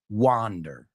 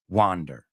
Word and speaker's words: wander: so all right well that first word is pronounced wander wander he likes to wander around the park wander